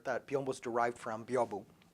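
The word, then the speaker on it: 屏風: biombo is derived from, byobu. Biombo is a Hispanicized pronunciation of the Japanese term byobu.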